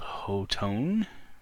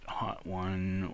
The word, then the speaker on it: Hotone: uh came up with this solution company called hoton that is how it's pronounced not hot one or hot tone as it sometimes gets called is there a